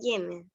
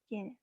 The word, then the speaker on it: Jenner: ajá, pero ahí tiene allí una pregunta, que ese nombre se pronuncia Jenner. Uh-huh. Jenner, exactamente.